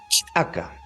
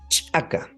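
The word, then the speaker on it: ch'aka: Es una che con un ligero corte en el aire. Ese es muy bien, listo. Sería de la siguiente manera. Sería chaca, chaca, chaca.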